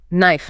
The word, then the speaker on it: knife: Silent H, honor, honest, ghost letters, silent K, knife, knot, silent L, calm, palm, walk.